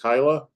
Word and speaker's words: Kyla: to mispronounce is is am I pronouncing your first name is it Kyla yes I I promise that Kyla